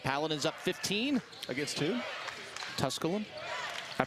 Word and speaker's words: Tusculum: Tusculum. I pronounced that correctly?